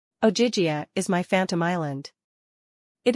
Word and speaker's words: Ogygia: She pronounced it like Ogygia.